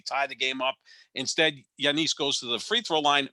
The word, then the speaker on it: Giannis: turning everybody off by saying yanis instead of giannis because that's the correct way to say his name and yes about this